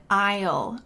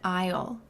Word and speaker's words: aisle: I'm going down in Isle notice this pronunciation I the S is silent go down an aisle or you can say